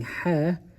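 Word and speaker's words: ح: writing hair there and say ha ha is in the middle of your throat this letter right here is a throat letter and it's saying it comes out from the same place as iene so say I they share a common mother or a place where they come out of so make sure you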